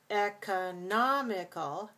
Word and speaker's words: economical: see in the word economical we have to think how many syllables and the stress is on three okay so economical so the